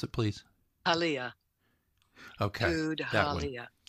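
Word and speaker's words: Tudhaliya: Pronounce it, please. Halia. Okay. Tud-Halia. Tud-Halia.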